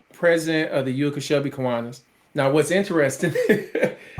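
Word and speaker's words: Kiwanis: Did I pronounce that right? So, yes. Look at you. Yeah. Kuanas.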